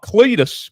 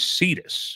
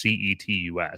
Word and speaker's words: Cetus: It's not Cletus, but it is Cetus. It's not Fetus. It's Cetus, I believe is how it's pronounced, Cetus.